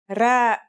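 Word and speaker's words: ر: our first letter is its closest English counterpart is the letter R but it's a different sound that must be learned it's not too hard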